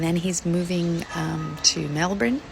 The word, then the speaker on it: Melbourne: Um so, he's got his Airbnb booked in Sydney and then he's moving um to Melbourne. Melbourne? That's how they say it, Melbourne.